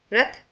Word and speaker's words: र: The ra is pronounced as ra, like the ra in the word rabbit. Let us see an example.